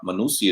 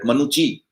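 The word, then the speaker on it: Manucci: Because she says that the name seems to be Italian, and in Italy or Italian language, double C is pronounced as cha sound, as we have some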